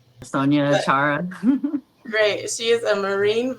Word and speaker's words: Sonya Achara: Am I pronouncing that correctly? Sonya Achara.